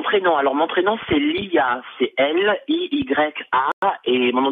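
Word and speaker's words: Liya: Mon prénom, comment ça se prononce? Oui, s'il te plaît. Ah, mon prénom. Alors, mon prénom, c'est Lia.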